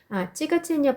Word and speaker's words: тяготение: тяготение 발음 보시면 тяготение라고 있는데 맨 앞에 자, 야에는 강세가 없어서 그냥 찌처럼 발음하시면 돼요.